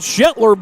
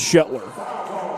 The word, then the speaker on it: Shetler: She had Shhatler beat. Excuse me, Shelter. Now I beg your pardon. It is Shler.